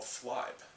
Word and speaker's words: Flibe: energy for example there is a company called flibe that's spelled f-l-i-b-e flab is a cur flibe is